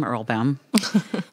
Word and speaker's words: Erlbaum: It rhymes with my last name, Erlbaum.